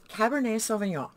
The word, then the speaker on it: Cabernet Sauvignon: right right here this one it is called Cabernet Sauvignon that is how it's pronounced but a lot of times it's just